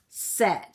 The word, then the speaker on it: said: way but they don't so this word is said like Alice said let's go for a walk said so said it lets